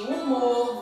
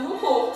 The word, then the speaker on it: humor: Você não consegue escutar o som do H na palavra humor, só o som do U, porque o H é mudo.